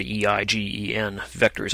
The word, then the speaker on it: eigenvectors: on eigenvectors of a matrix that's how you pronounce that word e-i-g-e-n vectors eigenvectors so what is an eigenvector for a